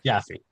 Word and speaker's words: Jaffe: And then Jaff Jaffy Jaffy.